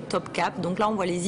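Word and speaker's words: Topkapı: palais de top cap alors c'est un espèce de i en turc assez bizarre c'estàd un i sans point et ça se prononce e top cap donc là on voit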